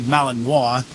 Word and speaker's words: Malinois: So, it's not a purebred Malinois. There it is. I finally pronounced it right.